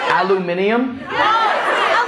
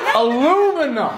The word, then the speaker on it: aluminum: That's not a word. Aluminium? Where are all the extra letters coming from? You're doing too much. All the aluminium. No, fuck that, guys. You're wrong. I'm thinking of the spelling of it in my head. There's no I after the M.